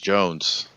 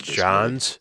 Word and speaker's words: Johns: it was Jones. I thought it was Van Jones or No, something. it's Johns, but it's not spelled like John. It's spelled like Jahn, John, Oh. with an S.